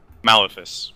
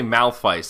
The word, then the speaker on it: Malefice: Malefice. Malefice. I say Malphite, and I don't think that's right. Malefice. I'll find out how it's pronounced. Malefice. I think you're correct.